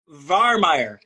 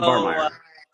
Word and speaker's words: Vahrmeyer: Vahrmeyer. So, Vahrmeyer. So pretend the H isn't there.